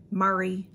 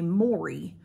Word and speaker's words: Mari: It's Mari. So it's like Mary, but it's M-A-R-I. And a long time ago, I asked her how to say it, and she told me we typed back and forth, so I thought she told me Maury, but it's not, it's Mari.